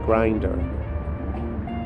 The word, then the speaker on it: Grindr: It's like, I mean, this application like Grindr, it's like, it's spelled like a meat grinder, grind with an R at the end.